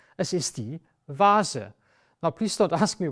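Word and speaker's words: Wasser: the forest Vasa water so it's not Wasa it's V Vasa to pronounce it correctly since it is so similar to English you will need some time until you actually say Vasa instead of water or Wasa and the wine is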